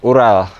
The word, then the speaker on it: Ural: BMW motor ini adalah ini mereknya Ipan Hai tapi dibacanya oral aku tak cinta cinta cinta Hai Dengan Cinta Ipang Hai tapi dibacanya oral ya motor ini adalah Ural dibuat oleh perusahaan MZ